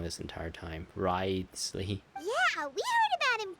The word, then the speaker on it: Wriothesley: personal dealings with the administrator of the fortress, Wriothesley. He's a very shrewd fellow. That's how you pronounce that. I've been trying to pronounce it as Wriothesley. Wriothesley.